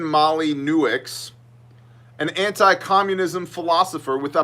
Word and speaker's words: Molyneux: Stefan Molyneux, which if you didn't know how to pronounce that name would sound something like Stefan Molyneux, an anti-communism philosopher with a massive unmonetized channel on YouTube.